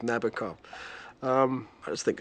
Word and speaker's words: Nabokov: day be so pretentious the rhyme Nabokov with nasty cough I forget what the rhyme was I think it was cough actually shake and cough rhyme with nabakov um I just think